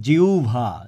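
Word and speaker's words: জিহ্বা: হচ্ছে অধি অধি জিউভা উচ্চারণটা কিন্তু জিউবা না এই উচ্চারণটা হচ্ছে জিউভা জিউভা আমি কয়েকটা উচ্চারণ নিয়ে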